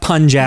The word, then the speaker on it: Punjab: Now we know it's pronounced Punjab. Yeah, he's saying it wrong.